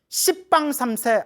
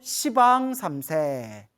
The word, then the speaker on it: 시방삼세: 그래서 불교에서는 10이라는 발음이 나오면 발음을 부드럽게 시라고 표현하는 거예요. 그래서 뭐 십방삼세 안 하고 시방삼세, 시왕도 시왕이라고 부르는 거예요.